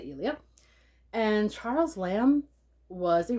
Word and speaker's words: Elia: charles lamb's essays of ilia i know i've heard it pronounced different ways but i've decided to say elia and charles lamb was